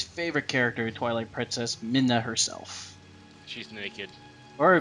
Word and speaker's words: Midna: Now we get to introduce to everybody's favorite character in Twilight Princess, Midna herself. She's naked. Or Mina. I think it's pronounced Midna.